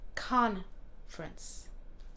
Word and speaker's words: conference: Alors, conférence, il y a le fin, c'est un peu plus fort que le début, mais c'est le contraire en anglais. Alors, même si c'est le même mot, on prononce ça un peu différemment.